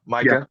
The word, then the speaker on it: Micah: You already mentioned her, but how do you pronounce it? Micah or Mika? Yeah, Micah. Yeah, She Micah.